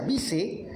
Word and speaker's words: Weiss: La maestra Sigrid Weiss, que no es Weiss, se pronuncia Vice, le manda saludos a